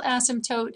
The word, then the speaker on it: asymptote: That's how you spell asymptote, and the P is silent.